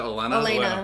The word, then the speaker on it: Olenna: Because it's two different leadership styles, and the old lady Tyrell, what is it, Olenna?